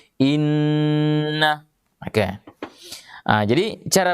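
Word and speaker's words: إنّ: Jadi inna, ini agak lama. Iya, tidak cukup kalau kita membaca inna. Iya, harus inna.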